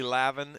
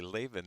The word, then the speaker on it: Lavin: Emily Lavin and Hi Stephanitis come in. Emily Leven, if you are to believe the PA announcer. Hung around with Emily a lot. Never heard her name pronounced that way.